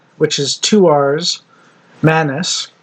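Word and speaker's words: Manus: Manis, which is 1 N M U S.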